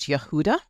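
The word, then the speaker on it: יהודה: Um, in Hebrew it's pronounced Yehuda and it means praise and there is u the Hebrew spelling of Yehuda.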